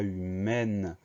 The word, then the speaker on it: humaine: E du féminin et ça va changer la prononciation du mot de humain avec le son 1. On va passer à humaine avec le son E et la syllabe ne. Donc l'ajout du E change la prononciation, on dit humaine.